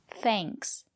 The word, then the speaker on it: thanks: But if the letter A is before ng or nk, we pronounce it as the long A, like in plane. For example, thanks.